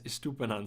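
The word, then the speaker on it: Estupiñán: were wrong davey and stupid is pronounced as estupanan so to appreciate the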